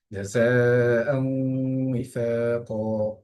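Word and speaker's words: جزاء وفاقا: জাযাআন উইফাকা, এখানে জায়ের মধ্যে চার আলিফ পরিমাণ টান টান দিচ্ছি, কারণ হলো জায়ের উপর একটা আমরা মোটা চিহ্ন দেখতে পাই।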